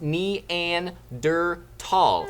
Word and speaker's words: Neanderthal: some cartoon chick said fun fact it's pronounced NE and der tall not many people knew